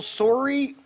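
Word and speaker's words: soirée: Additionally, in the fall of 2016, she launched another business, Dental Soiree. Soiree, like the party.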